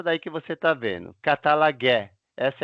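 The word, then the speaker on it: καταλλαγή: A palavra grega para reconciliação é essa daí que você está vendo, katalagé. Essa é a pronúncia, tá bom?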